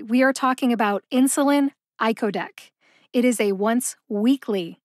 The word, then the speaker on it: icodec: learn how to say iodc iodc has three syllables see if you can